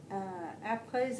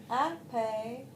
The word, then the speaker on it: après: Because Parce que after having worked with Luc, après avoir travaillé Lovely. avec Luc, you're going to spell après for me. après, Yeah, you can spell in French letters if you want. So A-P, après, R.